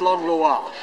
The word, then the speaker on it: Langlois: last name for me my name is langlo but in French it's long laa gotcha and Kay's last